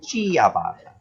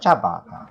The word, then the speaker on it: ciabatta: Some people would pronounce it as ciabatta, but actually Oh, very good. the ci just means a ch, so it's actually pronounced ciabatta.